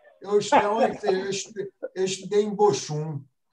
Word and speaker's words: Bochum: Sobre a universidade onde eu fiz o doutorado, a cidade se fala em alemão Bochum, mas se escreve Bochum, se escreve Bochum.